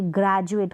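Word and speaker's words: graduate: अब यहाँ पर देखिए ग्रेजुएट, कभी आपने ग्रेजुएट नहीं पढ़ेंगे क्योंकि D जो है यहाँ पर D को ज प्रोनाउंस कर रहे हैं हम।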